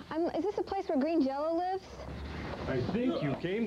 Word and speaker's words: Green Jelly: Now, Joe, the band is called Green Jelly, and it's even spelled Green Jelly, but yet the pronunciation is Green Jello.